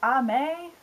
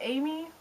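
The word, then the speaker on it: Aimée: Apparently, I don't know where I read this, but it's pronounced like Ame instead of Amy.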